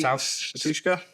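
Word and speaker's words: Batushka: Patushka. Yeah. That's how you pronounce their name.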